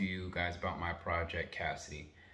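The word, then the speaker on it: CASIDI: to talk to you guys about my project Cassidy it's spelled c-a-s-i-d-i it's an acronym I'm not going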